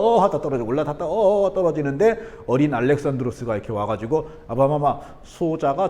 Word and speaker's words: 알렉산드로스: 이게 왜냐면요 그리스식으로 발음하면 알렉산드로스가 돼야 되거든요. 만약에 이거를 영어식으로 발음하려면 알렉산더가 돼야 돼요.